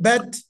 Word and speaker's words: Bet: And bet is bet. Bet. I know that you've got some people read it bay it, because that's how we speak English with A is R is A.